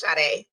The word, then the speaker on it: Sade: Yes, it's Sade. But is that how you spell it?